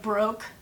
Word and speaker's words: Baroque: I love Mac and it's Baroque but the way they spell it I think it's like broke like I'm broke I have no money